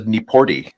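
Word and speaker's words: Nieporte: After he doubled, then it was Quincy Nieport, which apparently it's a Nieporty, which I was not expecting. Normally that E is silent, but Nieporty, yeah.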